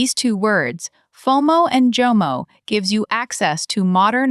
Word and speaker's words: JOMO: I keep hearing a Y sound in there. JOMO Great ear. This is a common error for Arabic speakers learning English, actually. The J sound is a voiced palatal alveolar fricative.